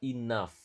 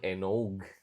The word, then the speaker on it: enough: Cara bacanya adalah enough. Oke. Bukan enog, tapi enough. Oke.